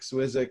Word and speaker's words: Zwissig: one of my friends and dear mentors jack swizzick with us how you doing jack i'm well